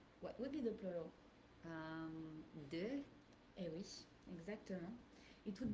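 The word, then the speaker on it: des: De. Eh oui, exactement. It would be... Alors, how do you spell that?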